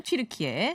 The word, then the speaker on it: 튀르키예: 터키죠 구 터키 신 튀르키의 야 원래는 그 자기는 알아 발음이었는데 뒤르키에를 영어식 발음을 하다 보니까 터키 터키 했어요 그 저번에 한번 얘기해